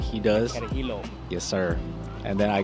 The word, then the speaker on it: Carajillo: Got a heel, or you can pronounce it the Carajillo like he does. Carajillo.